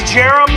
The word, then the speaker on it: Jarom: Alright you guys, so my name is Jarom Smith. It's pronounced like Jeremy, but with no Y.